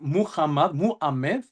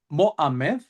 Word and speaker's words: Muhammad: But there would be three syllables, right? Okay. Yeah. So it would either be Muhammad, Muhammad, something like that. All right? Three syllables, three vowels.